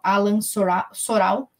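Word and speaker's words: Alain Soral: vídeos na internet que o Alan soral pronunciar para você poder procurar a l a i n soral eh e ele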